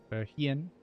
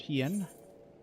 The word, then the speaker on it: Hien: Lord Hien. I keep wanting to say Hein. I don't know why. That's not how it's pronounced, but Lord Hien bid us adieu.